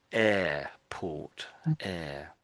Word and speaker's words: airport: And in in English it's it's a very quiet R.